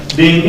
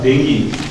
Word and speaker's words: dengue: 2 3 4 dan lafalnya denggi adalah dengi atau deng Jadi kalau American action bilang dengi kalau English England membacanya deng jadi yang dibilang gitu